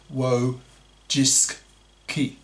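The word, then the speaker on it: Wojcicki: CEO was a woman Susan wuis pronounced w jiski a Polish American feminist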